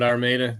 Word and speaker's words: Armada: You got it, Armada.